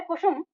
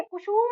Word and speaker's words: कुसुम: जो शब्द है कुसुम कुशुम है दोनों ही है। कुशुम नहीं है।